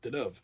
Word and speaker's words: Deneuve: I used to pronounce it Deneuve. That's been hard to break because it's Deneuve.